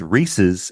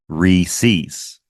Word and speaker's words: Reese's: I'm not sure if this is a regional thing, but I grew up in Boston, and everyone I knew always pronounced it as Reese's. R-E-E like dash S-E-E-S, Reese's.